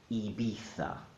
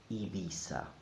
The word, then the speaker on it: Ibiza: for this beautiful place the Castilian pronunciation Ibiza Ibiza or the Latin America pronunciation Ibiza Ibiza everything else is not correct I know they sing